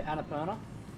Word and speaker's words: Annapurna: oh eight 18 is our maximum I think we're doing pretty good yeah base camp that is pronounce it yeah Annapurna yeah there you go oh yeah yeah it's